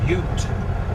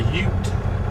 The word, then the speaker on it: Ute: she said it's pronounced Ute so like what is a ute you know that movie uh my cousin Vinnie what is a ute